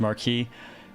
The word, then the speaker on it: Marquis: It's pronounced Marquis. That one you'll actually have to argue with a bit on. I want to say that's regional.